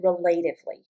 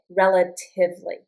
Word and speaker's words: relatively: relatively relatively Notice I don't pronounce it relatively relatively. So, the accent is on this it relatively.